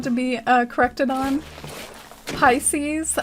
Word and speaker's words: Pisces: be uh corrected on pisces i used to say it like pieces my family likes to